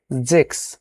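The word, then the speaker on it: sechs: উচ্চারণ জ সে হা এস এর উচ্চারণ এক্স তাহলে কি হবে যদি কোন ওয়ার্ডের পরে এস এর পরে যদি কোন ভাওয়েল থাকে তাহলে আমরা এটা জ এর মত উচ্চারণ করি। সেই ক্ষেত্রে ওই নিয়ম অনুযায়ী এখানে আমরা বলব জেক্স জিবেন আস সেহা সেহা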